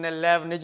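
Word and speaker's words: Leibniz: आई टी जड लेबनिज यह T silent रहता है यह लेबनिज ने इस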